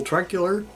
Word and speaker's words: Troeckler: week we have Michael truck Euler and the O is silent in that name so I wonder what